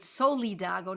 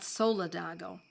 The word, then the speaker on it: Solidago: and soledago which is I pronounce it soledago not solidago solidago s-o-l-i-d-a-g-o and that is